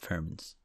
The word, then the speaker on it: Furmins: Okay, so it's pronounced Furmins. Because it's essentially about fairy things.